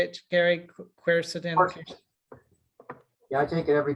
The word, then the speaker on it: quercetin: Quercetin.